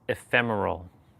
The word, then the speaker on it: ephemeral: So, it's pronounced ephemeral. Ah, yes, exactly. Ephemeral. The emphasis is on the second syllable and it's that fleeting quality that really gives it its charm.